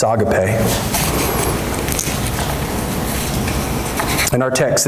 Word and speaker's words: agape: Some people mispronounce it agape. It's agape.